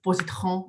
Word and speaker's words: Positran: So as Lucy has mentioned, I do run a company called Positran, and you can pronounce it as Positran and Positran as well.